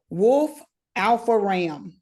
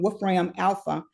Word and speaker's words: Wolfram Alpha: There's one called, and this one might be just a little geeky, Wolf Alpha RAM is AI.